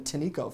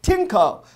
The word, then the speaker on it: Tineco: The Tinco, I had to look up the pronunciation. I've been calling them Tinico for a while. You can tell I'm not sponsored. Tinco.